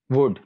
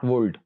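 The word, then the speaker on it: would: तो यहाँ पर एल is silent, it's शुड नॉट शुल्ड। इसी तरह वुड नॉट वुल्ड, कुड नॉट कोल्ड।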